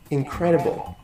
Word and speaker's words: incredible: Incredible, incredible. You're right. This second syllable is the loudest. It means that has the stress.